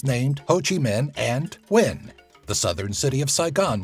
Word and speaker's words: Nguyen: Nguyen, pronounced Nguyen, is the most common last name in Vietnam.